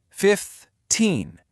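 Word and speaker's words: fifteen: For 15, the stress is on the end. 15. Can you hear that long stressed e sound?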